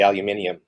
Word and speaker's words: aluminium: and turns it into aluminum or as the British say aluminium now it amazes me how even somebody even